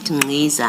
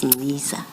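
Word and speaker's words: Nciza: And then in the spirit of the chair of corrections, you said Ngiza. I now know it's Ngiza.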